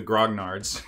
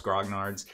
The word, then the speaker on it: grognards: of hobbyists calling themselves grog nards this is where it all comes from it's actually French and I hope I pronounced it mostly okay ish so we're gonna take